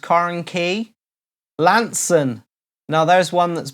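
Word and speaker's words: Carnkie: Rhiannon Smith says Carnkai is usually pronounced Carnkey.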